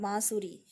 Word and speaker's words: बांसुरी: जैसे बांसुरी, तो एक नाक का उच्चारण आ रहा है, बांसुरी।